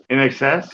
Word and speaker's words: INXS: In excess? Can you No. spell that?